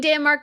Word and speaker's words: Danmark: And I'm saying Danmark because I think that's sort of how they originally pronounce it there.